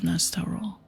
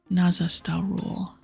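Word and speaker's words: Nazastarool: An ethereal form starts taking shape above the bones, and you soon face the vengeful ghost of Nastorul. Nazastarul. I was saying his name wrong.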